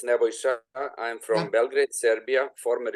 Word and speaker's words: Nebojša: There's Naboska, whose name I probably mispronounced, and he will tell me how to pronounce it properly, and Richard Kirkwood. So first, Naboska. Thank you, Nebojša. It's Nebojša.